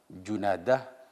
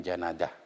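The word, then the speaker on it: جنادة: An Abi Dzarrin, dari Abu Dzar, Jundub bin Junadah. Jadi bidomil jimaini wa taslisid dalil ula. Jimnya ini Jundub dan Junadah itu dibaca dhammah. Jadi Jundub bukan Jindub. Junadah bukan Janadah.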